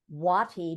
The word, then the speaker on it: Wuoti: out to her on LinkedIn and it's Watty but it's spelled w you oti but pronounced w-a-t-i-wati so